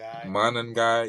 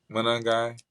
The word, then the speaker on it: Monangai: I've been trying to pronounce their leading rusher, Kyle. Oh yeah, Monagai. Monangai. Yeah, Monangai.